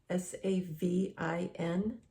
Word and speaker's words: Savin: I know I say it differently than most people, but I'm emphasizing the spelling. S-A-V-I-N. Sometimes people spell it wrong and they say S-A-V-E-N. So anyway, it's Savin is 65.